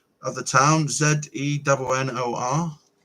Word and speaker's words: Zennor: Zennor. You got a church with that same blooming name. Zena, it sounds like.